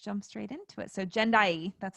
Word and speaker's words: Jendayi: So Jendayi, that's how you pronounce it, right?